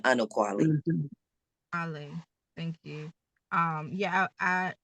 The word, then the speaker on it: Anokwale: And, and as I shared, it wasn't clear that this is the Quele. Is that how you pronounce it? Anokwale, but you can call me just, but Anokwale.